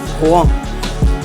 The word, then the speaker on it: Rouen: The city of Rouen, it's spelled like Rouen, but they call it Rouen.